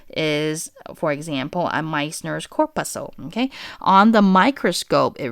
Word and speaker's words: corpuscle: I like to call it corpuscle, but then it's actually corpuscle. Okay, corpuscle is the correct pronunciation. Okay, to me, sometimes I rather remember it as how I know how to spell it, okay? But the proper way to call it is corpuscle, okay?